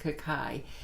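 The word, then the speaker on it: Kukui: regarding that Kukai naturals it's pronounced Kukai they never did approached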